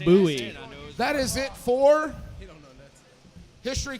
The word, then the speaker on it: Bowie: Sam Houston that is an incorrect fact it's pronounced Bowie that is it for history questions are done